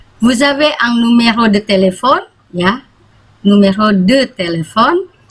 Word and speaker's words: téléphone: Vous avez un numéro de téléphone, ya, numéro de téléphone, karena ini aksannya 2 di E ini, jadi bacanya tele, ya, bukan telepon, tapi telepon. Jadi dibaca E yang kedua, ya.